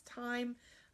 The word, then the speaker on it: time: to have four fingers one of them is a silent letter okay so Desiree that